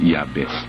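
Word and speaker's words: Jabez: of yabes ' ba si yabes J J yun kaya lang yabes ang bigkas o Pero alam mo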